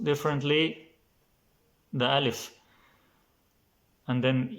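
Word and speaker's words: ألف: So it can be pronounced differently, the alif. And then if you want to learn how to say alif, it's very simple. You say lif, lif, alif, alif, alif, alif, alif.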